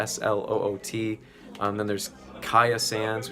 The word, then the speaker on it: Kya Sands: ot and then there's kaya sands which is kya sands and then there's oh